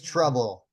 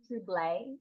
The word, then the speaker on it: Trouble: The name's Trouble. Some people think it's pronounced TL, but it's actually just pronounced trouble.